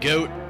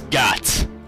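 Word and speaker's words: Goht: god's name is god it's not goat it's got and we got another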